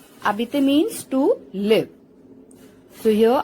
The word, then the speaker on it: habiter: Habiter. Habiter means to live, like to stay at a particular place, to describe the location, to live. Now here H is silent, it is not pronounced. Habiter. Habiter means to live.